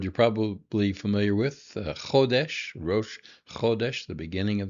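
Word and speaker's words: חודש: Uh chodesh, rosh chodesh, the beginning of the month. Chodesh. Emphasis on the first syllable.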